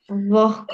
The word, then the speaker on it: вогко: інш да писати треба Наприклад кігті треба писати х кігті треба писати г а ми чуємо от ви мовте вогко вогко михтить кіхті михтить кіхті Так ми вимовляємо Ми чуємо х Ми вимовляємо що типа кота кіхті але ми пишемо г г а треба писати г